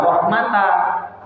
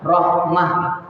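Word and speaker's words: رحمة: Contoh, illa, kalau baca ibu berhenti di sini, jangan dibaca illa rahmata. Jangan sama kayak aliman hakimah. Tidak, tapi bacanya illa rahmah.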